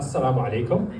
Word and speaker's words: Assalamu alaikum: Now, if you're feeling uncomfortable, that's because that Assalamu alaikum is an authentic Arabic pronunciation. I never passed through the Western Sydney rendition.